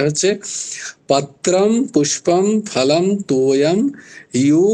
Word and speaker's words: यो: পত্রম পুষ্পম ফলম তোয়ম ইয়ো, জো নয়, ইয়ো মে ভক্তিয়া প্রয়চ্ছতি তদহম ভক্ত্যু পরহিতম ভক্তু পরহিতম অশ্নামি, পেট কাটা মূর্ধন্য ষ, দন্ত নস্য নয়, অশ্নামি ভক্তু পরহিতম অশ্নামি প্রয়তাত্মনঃ।